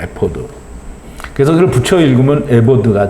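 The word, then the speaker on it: אפוד: 우리말로는 에봇이고요. 히브리 발음은 에포드입니다. 에포드.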